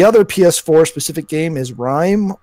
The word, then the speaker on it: RiME: ps4 specific game is rime I believe that's how it's pronounced it's capital R lowercase I capital M II so it's a third-person